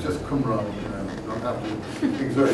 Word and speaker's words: Qumran: So it's a Qumran, it's just a K sound. So people are starting to pronounce it as Q. Just stop them and tell them, take it easy, relax. It's just Qumran.